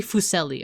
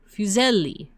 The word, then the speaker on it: Fuseli: is this guy Henry Fucelli. Or actually, how do you say this? Fuseli or Fuselli? Fuseli. Wow, that's so gross.